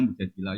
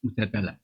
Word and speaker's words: Mujadilah: Makanya di Quran ada surat mujadilah yang benar itu bacanya mujadilah yang level A. Tapi umumnya orang baca apa? Mujadalah.